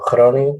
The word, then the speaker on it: Groningen: No pasé por otro lado, de hecho fue la primera vez que yo salí de México, directo aquí a Groninga o Groningen, como se pronuncia acá, que está en el norte de los Países Bajos.